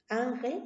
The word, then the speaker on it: ángel: tilde ahora la palabra ángel ángel es una palabra de dos sílabas no ángel y tiene una mayor fuerza de voz en la penúltima sílaba regla clara de la